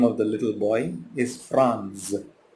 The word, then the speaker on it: Franz: You know, here the name of the little boy is Franz. Rhymes with France.